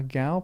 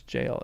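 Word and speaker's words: gaol: Gail is a jail. Okay. Uh, Gail pronounced as jail.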